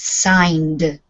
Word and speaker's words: signed: voice sound it sounds like a d on the end so it's signed signed signed yeah signed signed it's it's soft the D sound on the end is soft but it is only one syllable we don't add a syllable okay signed I need